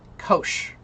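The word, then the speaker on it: Kocs: Kosh.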